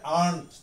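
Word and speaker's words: aren't: তারপরে হচ্ছে আমরা বলি আর নট, এটা সংক্ষিপ্ত রূপে হবে, উচ্চারণটা হবে আর্নড, যদিও এখানে আর থাকে এই আরটা উচ্চারণ হবে না, আর্নড।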